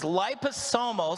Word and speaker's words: liposomal: This is liposomal. So if you look at the top word there, liposomal, that's how you say it.